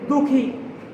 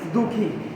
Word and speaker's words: দুঃখী: মোটামুটি আমরা সবাই এই শব্দটি ভুল উচ্চারণ করে থাকি। আমরা বলি যে দুঃখী, দর্শকার বিসর্গ খ দীর্ঘ ইকার, আমরা বলি যে এটা দুঃখী, কিন্তু দুঃখী শব্দের প্রমিত উচ্চারণ বা শুদ্ধ উচ্চারণ বা কারেক্ট প্রনাউন্সিয়েশন যেটাই বলেন সেটা হবে দুঃখী। দুঃখী, দুঃখী না।